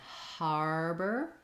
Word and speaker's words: harbor: to have that contrast arbor just says the r and then harbor it's going to be similar to like a word like hard where you have to let the air flow for the h sound har harder harbor so i would just rewrite that one probably as har bur or there's our or